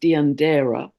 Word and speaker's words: Deianeira: I believe it's pronounced Deianeira.